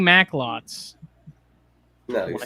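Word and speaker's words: Macklot: I'm pronouncing Mac. It's Maclots. I just shorten the O.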